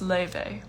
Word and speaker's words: Laufey: good question this you my name is pronounced leyvay it's in um if you're ever wondering how to pronounce my name it's in my bio so how important is